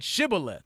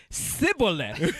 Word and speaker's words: Shibboleth: And he said Shibboleth. And he said Sibboleth. He didn't say the H.